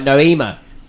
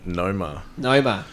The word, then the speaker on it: Noema: Noema. Oh, Noma. That's how he says it though. Noema. I used to, not anymore. So it's Noma. Yeah, it's pronounced Noma.